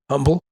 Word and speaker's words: Humble: And I was like, well, if the H is silent in Humble, why isn't it silent in Houston?